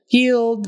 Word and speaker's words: yield: another one but anyway yield the IE is spelled with a long e sound yield and a d